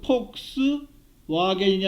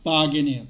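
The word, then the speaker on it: Volkswagen: 여러분 폭스바겐은 뭐예요? V하고 W 이렇게 했죠. 그 폭스 와겐이 아니라 바겐이에요. 바겐.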